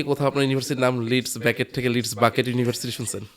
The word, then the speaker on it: Leeds Beckett: লিডস বেকেট ইজ the name, যেটা হয় সবাই বাংলাদেশে যেটা হয় দে pronounce it অ্যাট লিডস বাকেট, লিডস ব্র্যাকেট।